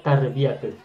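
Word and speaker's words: تربية: Itulah sebabnya maka kalau kita membaca tarbiah yang artinya pendidikan itu bacanya dan penulisannya adalah tarbiyatun. Tarbiyatun yanya tidak boleh menggunakan tasdid. Tidak boleh kita mengatakan tarbiyatun. Kalau kita mengatakan tarbiyatun itu artinya salah. Salah sekali. Jadi harusnya tarbiatun.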